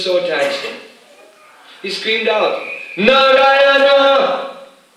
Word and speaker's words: Narayana: He screamed out, Narayana! Narayana, four syllables.